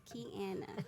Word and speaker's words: Kiana: to call it kiana say it right pronounce it right please key anna okay before we start